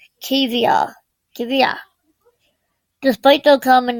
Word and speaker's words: Cavia: Not Cavia, Cavia.